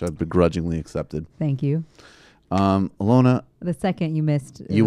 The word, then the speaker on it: Alyona: The first being that I pronounced her name correctly, which I've begrudgingly accepted. Thank you. Alyona.